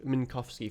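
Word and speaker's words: Minkowski: Minkovski Minkovski is the correct pronunciation.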